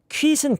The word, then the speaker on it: quit: quit은 quit으로 발음하면 안 되고, 네, 지금 골드 키위님이 지금 해주셨죠. quit이에요. quit. quit. quit이 아니에요. quit이에요. quit. 오케이?